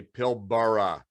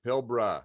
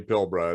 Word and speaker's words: Pilbara: come here, they say Pilbara. And of course, that first A is silent, everybody. It's Pilbara.